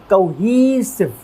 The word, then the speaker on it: cohesive: काउहिसिव इसका मतलब अपने को स्ट्रेस कहाँ पर देना है, ह वाली साउंड के ऊपर देना है और ये ई की साउंड को लॉन्ग प्रोनाउंस करना है यानी कि थोड़ा लंबा प्रोनाउंस करना है।